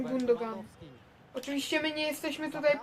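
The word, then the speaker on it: Gündoğan: połowę mecz zmieniony na gundog różnie mówią na niego chociaż ja wymawiam gundogan Oczywiście my nie jesteśmy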